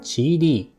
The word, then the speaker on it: QIDI: The newly updated QIDI -- pronounced 'chee-dee' -- Plus5.